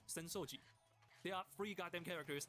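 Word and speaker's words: 浅草寺: Asakusa, except it's pronounced Senoji.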